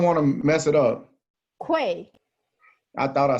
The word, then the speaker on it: Kuei: name i don't want to mess it up quay i thought i said it right how was